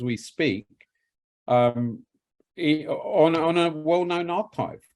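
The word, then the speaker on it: arXiv: Oh, amazingly, Lawrence, because look, there's a paper published every hour as we speak on a well-known archive called Archive, actually, Archive spelt with an X, from Cornell University.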